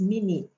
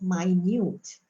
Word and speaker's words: minute: This one is minute, right? So is a measurement for time. Is also a measurement for angle, but it can also be pronounced as minute, which means small, too small, right?